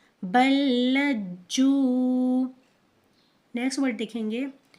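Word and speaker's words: بَل لَّجُّوا: दोबारा हम इसकी हिज्जे करेंगे, बा लाम ज़बर बल, लाम जीम ज़बर लज, जीम वाव पेश जू, बल्लज्जू।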